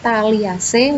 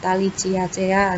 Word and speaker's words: Thaliaceae: Ascidiaceae, Thaliaceae, Larvaceae, bacanya kayak gitu ya. Jadi jangan Ascadiacea, Thaliciacea, nah kayak gitu.